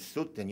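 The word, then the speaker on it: Soutine: In Smolovich, not to be confused with Smilovich, famous for Chaim Sutin, and the local pronunciation is Sutin.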